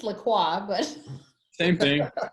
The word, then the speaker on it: LaCroix: No, dude, that's lacrosse. LaCroix, bro.